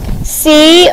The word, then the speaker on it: column: in this word shane they forget the end because it's silent okay we don't say column column has a silent n on the end there i n g